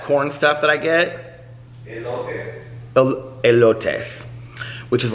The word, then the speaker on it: elotes: How do you pronounce that corn stuff that I get? Elotes.